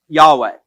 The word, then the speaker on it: Yahweh: Now, in the Hebrew name for God, we pronounce it Yahweh.